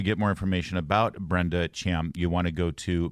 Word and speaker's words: Thiam: pronounce my last name it's pronounced Cham can you leave it